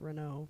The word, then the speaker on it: Renault: Like one of the racing companies for F1 is Renault, but it's spelled AULT.